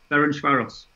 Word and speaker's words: Ferencváros: Ferencváros. There you go. That's perfect pronunciation.